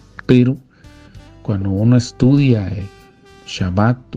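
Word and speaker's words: שבת: día de reposo que en hebreo se pronuncia más o menos eh de la siguiente manera shabat el shabat el Día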